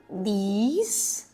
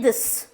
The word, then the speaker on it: these: अब एक छोटी सी टिप, दिस और दीज को बहुत लोग एक जैसा पढ़ते हैं. इसको पढ़ते हैं दिस और इसको भी पढ़ते हैं दिस. दैट इज रॉन्ग, ठीक है?